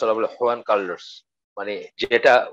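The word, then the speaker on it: Juan Carlos: এবং জুয়ান, আমরা বলি জুয়ান কার্লোস, আমরা বলি হুয়ান কার্লোস, মানে যেটা উচ্চারণ করে না।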